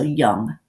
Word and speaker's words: Jung: him this is Carl Jung so I know it looks like John but it's pronounced with it like a Y sound so young then so at first